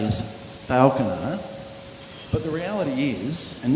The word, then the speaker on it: Falconer: Falconer is the correct pronunciation.